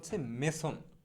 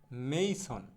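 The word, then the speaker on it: mason: হ্যাঁ, আমরা ইংরেজিতে এটাকে বলি মেসন, কিন্তু এটা শুদ্ধ উচ্চারণ কিন্তু মেসন হবে না। শুদ্ধ উচ্চারণটা হবে এইরকম, মেইসন। শুদ্ধ উচ্চারণটা হবে মেইসন। তো আমরা কখনো এখন থেকে মেসন বলবো না, আমরা এটাকে বলবো মেইসন।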